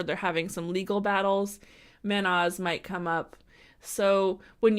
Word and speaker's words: Mannaz: Next here, we have Mannaz, and this is spelled Mannaz.